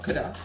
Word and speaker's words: Kedah: Kedah, yeah, Kedah. Oh my God. But you wanna say like the local, you say Kedah, you know?